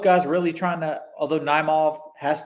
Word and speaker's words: Naimov: Naimov, yeah.